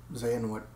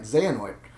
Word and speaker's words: Xehanort: Xehanort. Oh, yeah, I said it right. Xehanort.